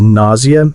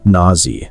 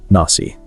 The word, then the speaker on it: nausea: Another tricky word is nausea, pronounced nausea or nausea or nausey, not nasi.